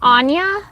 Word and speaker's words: Anya: spelling it wrong because, I've heard the name Anya, like Anna kind of Anya, like how it's spelled like Anna instead of with a Y.